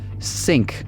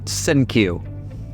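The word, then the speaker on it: Cinque: Freeze obviously thought very highly of himself, enough to not bother checking that the name is traditionally pronounced Sink, not Sinkyu.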